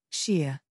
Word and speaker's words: Shea: like that come on it's not a hard name to say Shea Shear repeat after me sheer they ignored Shay who